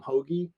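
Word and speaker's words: Hoge: Dark Horse even though I pronounced the guy's name Tom Hogue but everybody says Tom hoagie but if you're from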